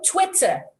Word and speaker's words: Twitter: fit of anger so the sound here is twit twitter but when you are tweeting you know it's from the the word is from the bird when you're tweeting it's tweets it's a long e but when you articulate the name of the app social the social networking app it is twitter twitter so did we get